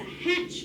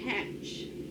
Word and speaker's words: hatch: does the walking our number three trigraph tch we don't hear the t and remember if you have tch your bible is short so we have the chick about to hatch from the egg hatch all right the next